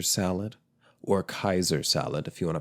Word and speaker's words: Caesar: I had a good-sized Caesar salad, or Kaiser salad, if you want to pronounce it correctly. Yes, Caesar, like Julius Caesar, that word is actually pronounced Kaiser.